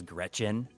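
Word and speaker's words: Gretchyn: Like the character I'm playing is is a uh I'm playing as an Amazon and her name is Gretchen. I like that. But it's it's spelled it's spelled uh G R E T C H Y N.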